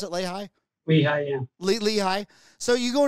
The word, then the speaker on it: Lehigh: Is that how you pronounce it? Lehigh? Lehigh, yeah.